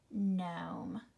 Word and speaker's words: gnome: Which letter is silent? It is the G. It is not gnat. It is gnat. Gnaw, gnome.